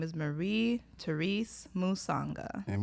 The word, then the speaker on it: Musanga: So, today we have a mental health therapist, Marie Matanga. Let's give a round of applause. Y'all better be clapping, too. You just butchered my name. It's Musanga.